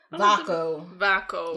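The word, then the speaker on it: Vaako: Vaco. Yes. 2 syllables, but yes. He's Lord Vaco and she's Dane Vaco.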